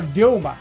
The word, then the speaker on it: Ryoma: So it's a Ryoma. How, that's how we pronounce that.